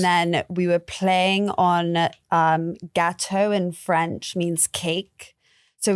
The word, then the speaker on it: Gateau: And I was going to say too, with your brand Gateau, am I saying it right? Gateau? So Gateau. Exactly. Okay. It's meant to be, so my co-founder's Tonya, Gato from our names.